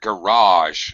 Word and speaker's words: garage: good both you guys this word is a little bit weird garage unlike launch yeah most two syllable nouns have first first syllable stress but this is one of those weird words I think adopted from another language so it has second syllable stress garage and it has the jaw sound like television garage so the Chi is making a weird sound not normal the second G ok did you all